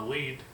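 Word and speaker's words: lede: Now the lead, which is spelled L-E-D-E, and it's kind of weird.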